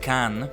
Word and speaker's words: Kane: That's the classic Billy Kane or Billy Khan. It's written like that. K A N E but apparently supposed to be pronounced Khan.